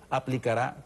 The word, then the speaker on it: aplicará: Periodistas, en su momento aplicará correctivos. Por cierto, que la palabra aplicará, Franklin, lleva tilde en la última A, para que tenga acento en la A. Es aguda, dijera, es una palabra aguda.